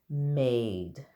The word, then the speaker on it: made: And also I wanted to point out that there's a silent E that's very bossy and told the A to say her name, made.